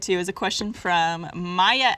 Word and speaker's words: Maya: All right, well, the next segment we're going to get to is a question from Maya S. I think I'm pronouncing that right.